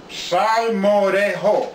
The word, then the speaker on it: salmorejo: it than I will this is the word simoh dejo where jake has a Spanish as a Spanish sure of Jay to it if you were to do it phonetically is sound more today oh that's what it's